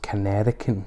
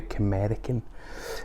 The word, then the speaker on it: Canerican: It's called I can never pronounce this, Canerican. You'd think it would be Camerican, but he's combining Canadian and American.